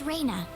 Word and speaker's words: Reyna: Oh, and I had a dog named Reyna once. Claude C. Kinney. Rat terrier, lived to be like 18, very, very old. And we spelled it R-A-Y-N-A, but it's pronounced the same as R-E-N-A here.